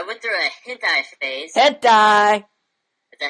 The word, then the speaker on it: hentai: Hentai!